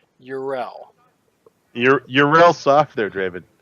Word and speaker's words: Yrel: Let me say her name again correctly so you can do it right. Yrel.